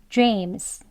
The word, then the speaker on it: James: 쓰여 있는이 소리처럼이 소리에 가까운 소리로 끝납니다 그렇게 발음이 되어서 James jes 이렇게 소리가 나는 거예요 jes 이렇게 발음하지